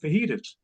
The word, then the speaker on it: fajitas: I really do love their pulled pork fajitas." And he looked at me and said, "Dad, it's pronounced fajitas."